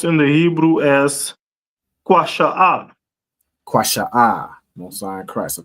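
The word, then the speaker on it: קישוא: That cucumber is pronounced in the Hebrew as kwasha'ah.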